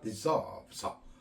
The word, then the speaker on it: deserves: 그래서 다시 한번 deserves 할 때 끝에서 어를 의미 공명한다.